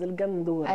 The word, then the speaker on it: el gandoura: Et que allez, on va la prononcer à la bonnoise, el gandoura. El gandoura.